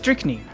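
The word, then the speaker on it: strychnine: I on my phone here googled uh strickn or whatever, and it is pronounced strickn.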